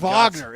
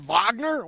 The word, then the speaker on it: Wagner: Vagner. It's spelled Wagner, but I'm supposed to pronounce it Vagner.